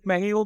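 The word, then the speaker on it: México: फिर मैहियो की, मैं हम लोग इसको नॉर्मली मैक्सिको बोलते हैं बट आई गेस इसका करेक्ट प्रोनाउंसिएशन मैहियो है।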